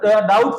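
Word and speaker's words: doubt: से क्या संबंध है डाउट डाउट वैसे स्पेलिंग उसे करेंगे तो ये गलत उच्चारण हो जाएगा यानी की बी क्या है साइलेंट है क्या है बी साइलेंस बी हमारा साइलेंट है यानी की डाउट में बी साइलेंट है इस प्रकार एक का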